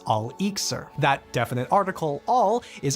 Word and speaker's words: elixir: For the Islamic scholars, transmutation could be accomplished through different kinds of elixirs, a word whose Arabic origins become obvious when you swap the E for an A and pronounce it as al-iksir.